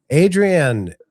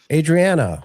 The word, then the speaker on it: Adriana: Adrian Adriana, I'm sorry. I I pronounced your name wrong.